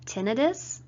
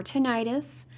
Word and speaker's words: tinnitus: lot of people have tinnitus or tinnitus both of those pronunciations are correct by the way this